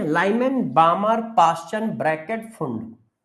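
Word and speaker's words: Pfund: Lyman बामर पाश्चन bracket फुंड। P silent होता है फंड series.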